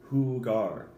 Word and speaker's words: jugar: it's pronounced whoo gah jugar the Ju and jugar makes a whoo sound so it's whoo gar okay jugar means to